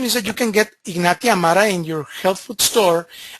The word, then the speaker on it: Ignatia amara: The medication or the remedy, the homeopathic remedy, is called Ignatia amara. Ignatia amara. And let me repeat it for you. I'm going to spell it for you.